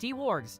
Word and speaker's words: Dwarg: Dwarg619 says, hey, my name is pronounced D-Wargs. Thank you for correcting us, Dwarg-san.